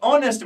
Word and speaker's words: honest: Mister Majid is dash ऑनेस्ट, बेटा ऑनेस्ट as silent, तो कौन सा साउंड निकल रहा है, वॉवेल वाला, तो सर यहां पे एन आ जाएगा।